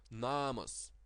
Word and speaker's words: namas: to the second vowel the long vowel that is pronounced the same but is written like the short one namas namas namas which which means house the second the second of this word is short and the first is long namas now the